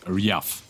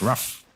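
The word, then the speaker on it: RAF: That prophet is Riaf. Riaf. Riaf. Like a dog. Ruff. Yeah.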